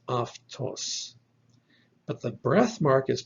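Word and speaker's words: αὐτός: our previous video that alpha epsilon is pronounced so this word is aftos but the breath mark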